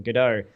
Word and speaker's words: Godot: oh, it's Gal Gadot, because that's how I pronounce the engine, the game engine, Godot.